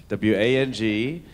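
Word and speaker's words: Wong: W-A-N-G and W-O-N-G are both pronounced Wang, but W-O-N-G is southern China, W-A-N-G is central and northern parts of China.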